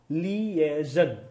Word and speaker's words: liaison: में आएगा, मेरे बाद एक शब्द रिपीट करना, लीएजन। क्या बोलेंगे? लीएजन, LIASION, that is the spelling basically.